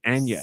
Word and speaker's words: Anya: Because, as you know, Chris Pratt is Mario, Charlie Day is Luigi, Anya Taylor-Joy, as apparently you're supposed to say her name, Anya.